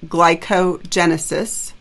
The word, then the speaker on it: glycogenesis: glycogen, that process is glycogenesis, right? Storing glycogen. So it's really got both roots. It's got glycogen and genesis, glycogenesis, but don't put the other gen in there.